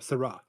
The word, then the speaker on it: Sarah: No, no, not Sarah. Sarra.